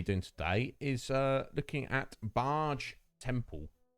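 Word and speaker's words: Baaj: And I think the first thing we're going to be doing today is looking at Barge Temple. Barge. I think that's pronunciation. B-A-A-J. Barge.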